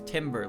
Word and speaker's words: timbre: We say timbre all the time. Alright? I don't care if you spell it E-R. I don't care if you spell it R-E. It's timbre. Alright? Timbre, timber, it's timber. Like tree, like wood.